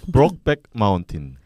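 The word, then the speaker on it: Brokeback Mountain: 발음이 브록백 마운틴.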